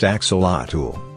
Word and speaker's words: axolotl: four of its legs are so short the Axolotl pronounced Axolotl a rare salamander from Mexico can regrow lost